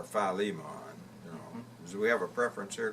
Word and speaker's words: Philemon: le mo Lian and you either pronounce it I guess either Philemon or Philemon we have a preference